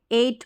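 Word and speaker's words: eight: ए यहां पर देखें ई आई को ए करके पढ़ते हैं एट पढ़ते हैं जी एच साइलेंट रहता है ई वाई को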